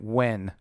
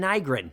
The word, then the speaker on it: Nguyen: Diane Wen. No, it says Diane Nygren. It's Nguyen. It's Wen. It's an Asian thing. That's not Nygren? Wen. They pronounce it Wen.